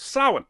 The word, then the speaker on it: Samhain: Samhain. It means the Lord of the Dead. Which is actually pronounced Samhain, and Dr.